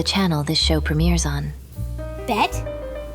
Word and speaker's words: BET: this show premieres on Bet? It’s pronounced B-E-T.